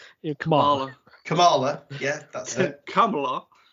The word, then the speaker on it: Kamala: around finding the comic books I'll probably just butcher the name yeah come on Kamala yeah that's it Kamala um finding those